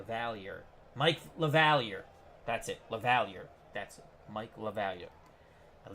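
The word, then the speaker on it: LaValliere: second bat eighth Sportsman Z how you doing La valet lavalier thank you very much Sportsman C I could never pronounce his name so that is Mike lavalier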